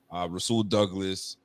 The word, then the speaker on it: Rasul Douglas: We got Dane Jackson, Rasul Douglas is how he pronounces it.